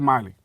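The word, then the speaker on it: Meili: Now Trisha Millie, is that how you pronounce her name? Yeah, Trisha Miley.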